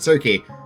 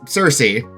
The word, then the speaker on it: Circe: be corrected because someone did point out the pronunciation because I was saying Circe. It's Circe for the proper pronunciation, weird Greek stuff.